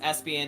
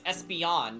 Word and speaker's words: Espeon: know some call me pronounced espion as Espeon is espion that's wrong it's Espeon not s Espin or whatever the [